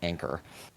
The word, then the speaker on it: Angkor: the city of Angkor, or pronounced properly as Anchor, like a ship's anchor, just misspelled. Got it.